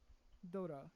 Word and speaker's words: Dora: What So about the Dora thing? Is that how you say it? Dora, yes.